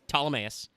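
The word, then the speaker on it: Ptolemaeus: and pronounce that um several other people tried and failed it's it's ptolemais um gone from zero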